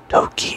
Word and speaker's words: toki: would still be acceptable stress falls on the first syllable of a word pronounce it a bit louder longer and higher pitched for example the word Toki is pronounced DOI and